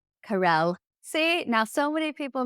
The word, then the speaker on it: Carel: me is on LinkedIn it's just said Carol Carell see now so many people mispronounce my name that I actually mispronounce it